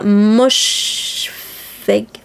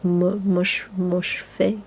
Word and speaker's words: Moshfegh: Donc c'est l'Abvona de Otessa Moshfegh. Le GH se prononce pas, donc Moshfegh, je sais pas.